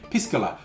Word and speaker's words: Piscola: careful how you pronounce it. I'm being very careful to say Piscola because I don't think you want to call your drink with cola Piscola.